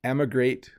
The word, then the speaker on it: emigrate: Emigrate starts with kind of a hard E, emigrate, and immigrate starts with an I.